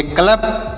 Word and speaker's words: club: CLUB तो देखिए CL से क्या पढ़ेंगे आधा का और ल, UB, यू का उच्चारण यहाँ पर नहीं होगा, B से पढ़ेंगे ब, ऐसे पढ़ेंगे क्लब, इसे क्या पढ़ेंगे क्लब पढ़ेंगे।